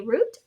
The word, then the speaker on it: route: Rhymes with flute if you say root, rhymes with out if you say out.